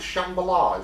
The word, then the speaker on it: Shambhala: I think in Hindu, was it called a I don't want to mispronounce it. Actually, you just call it Shambhala, is what it is.